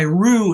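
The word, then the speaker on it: Ryu: Yeah, this is a photo that came out of a paper by Rue and colleagues last August of 2024. Rue is spelled R-Y-U.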